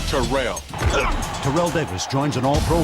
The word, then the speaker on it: Terrell: two thousand yard claim is pronounced to rail Terrell Davis joins an